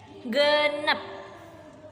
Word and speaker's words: genep: Genep. Sanes genep ya, tapi genep. Genep.